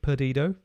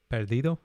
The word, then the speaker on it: Perdido: a tune let's take pedido perdido if you say it properly two five one and